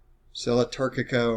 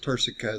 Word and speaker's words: turcica: little indention right here turkica or i've already pronounced turcico so that's how i learned it that's how i say it but either way is correct okay then you've